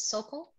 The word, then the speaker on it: Sokol: Is it Sokol? Did I say it right? Yep.